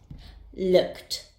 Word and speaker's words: looked: look its sound ends the Ed ending will be pronounced as looked looked very interesting isn't it